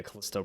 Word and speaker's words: Callisto: mike yeah like callisto is that how they pronounce it yeah callisto protocol so callisto it it reminds you of